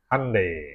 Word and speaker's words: Hyundai: Korea dulu Korea ada ada yandai Handai Handai bacanya Handai Handai Oke ini dia akan